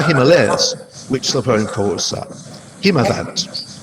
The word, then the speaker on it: Himavant: which the poem calls Himavant. I'm using Eliot's own pronunciations here, and I'm aware that there may be different or perhaps better pronunciations of those terms.